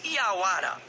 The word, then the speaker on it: jaguar: Jaguar é uma palavra de origem tupi-guarani e é pronunciada como iauara e pode ser traduzida